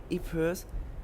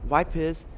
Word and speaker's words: Ypres: English soldiers stationed near Ypres, which they mispronounced as Wipers in Belgium, found an